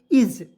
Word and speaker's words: is: ठीक है यहां देखिए आई एस क्या पढ़ेंगे आई से होता है ई लिखेंगे ए का उच्चारण इस यहां पे ज के रूप में होगा होगा क्या पढ़ेंगे इज ठीक है इस नहीं पढ़ेंगे देखिए बहुत सारे ऐसे